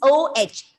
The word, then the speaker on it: oh: god oh my god it's not whole it is not h o it is o h some of you are reading like co it's not o o the h sound h sound might not be heard it's oh oh my god there is